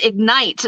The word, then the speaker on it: Ignite: Ig, Yes. and then like a night, like a night.